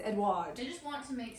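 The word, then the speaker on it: Edouard: Edward. Yeah. And it's not spelled like Edward. It's spelled E D O U. O U. Oh, U. It's Edward.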